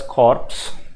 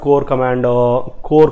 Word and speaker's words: corps: The new agreement of September 21st as at the 6th round of core, actually CORPS, don't pronounce it as corpse. Corpse means dead body.